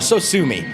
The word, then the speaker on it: Sosumi: And he was like, whatever, so sue me.